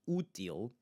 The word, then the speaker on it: útil: We want to make sure that the first syllable is the one that we are emphasizing.